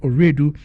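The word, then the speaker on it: Owiredu: No, my Oredu is I think Justice Oredu was an Ashanti or something. My Oredu is Fanti. My dad is Fanti. Okay. So that is why it is spelled O-W-I-R-E. Yeah, there's Redu and there's Oredu.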